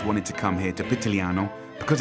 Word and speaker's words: Pitigliano: Pitigliano.